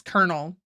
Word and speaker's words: colonel: Oh, people argue about that but then pronounce colonel colonal. Colonal colonal. Yeah, it's colonel. But also, who the who who decided that's how you spell kernel? There's no R in it.